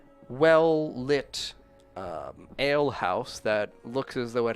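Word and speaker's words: Ailhause: kind of, like, well-lit ale house that looks as though it has a mess of people inside. An ale house? Mm-hmm. What is it called? Ale house. But it's spelled A-I-L-H-A-U-S-E. The ale house, yeah.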